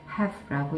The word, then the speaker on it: have: 그리고 특히나 have 같은 경우는 have 이렇게 읽는 경우가 간혹 이제 잘 생각을 못하고 그렇게 읽을 수가 있는데 왜냐면 이제 끝에 매직 e가 붙어 있으니까 자 얘는 매직 e는 큰 역할을 못하고요 have라고 읽어줘야 되고 주인공이 나도 아니고 너도